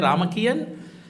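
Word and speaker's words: Ramakien: In Thailand, it is called Ramakian. In Cambodia, it is called Rem. But meaning is same. Meaning is Ramakiri. But they pronounce it as a Ramakian.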